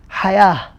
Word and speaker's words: hayah: this word hayat, and if you'd like to say just this word, there is no second word after the hayat, so you pronounce as a ha here, hayah, hayah. If you decide to make another word after the word hayah, you pronounce it as ta, not ha.